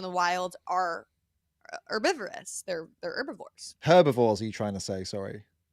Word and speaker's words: herbivore: The H is silent.